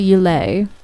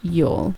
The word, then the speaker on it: yule: pronounce the yule log it's not you lay it's yule this way we've got